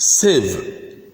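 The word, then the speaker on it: sieve: conceive receive and perceive an exception here is the word s-i-e-v-e which is pronounced Civ silver we've come to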